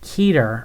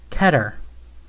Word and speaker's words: Keter: Also, you pronounced it Keter earlier. It's actually supposed to be pronounced Keter.